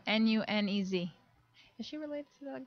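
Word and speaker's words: Núñez: And pronounce the second N like it's a Y. Pretend like it's a Y. Nunez. Nunez.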